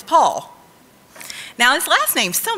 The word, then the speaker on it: Paul: Now, it took this Okie a few times to not say Paul and make it two syllables. I've condensed it down to one. It's Paul.